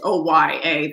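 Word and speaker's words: olla: them up there it's it's uh spelt o lla okay oh yeah that's how you guys it's o-y-a that's how it's pronounced but yeah you can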